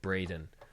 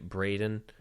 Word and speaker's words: Braden: browser type in Gregg Braden but it's spelled like bradden not Braden like b ra de in but I guess he pronounces it wrong I don't know but